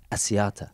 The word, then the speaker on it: Asiata: no it's not um is this can I pronounce it right atalani celicelli Asiata yep yep so it's John is in there